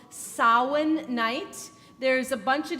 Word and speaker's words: Samhain: this word, and none of them have an M sound in them, and yet the word is spelled with an M. So everybody say it with me. Samhain. Samhain. Good. It is the Celtic pronunciation of the word, and it refers to